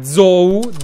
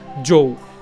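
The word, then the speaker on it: Zhou: questo Tra l'altro che zoou zh o u Come viene traslitterato il cognome cinese Eh si pronuncia Joe e io ho un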